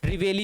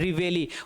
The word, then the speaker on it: reveille: Signal जो आवाज लगाई जाती है वो सर रिवेली होती है। REVEILLE, REVEILLE, REVEILLE, रिवेली, उसको हम किसके नाम से जानते हैं, रिवेली के नाम से जानते हैं।